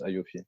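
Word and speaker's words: AAOIFI: suis sur le site c'est la a o i f i c'est ça il app en prononce aofi c'est ça et euh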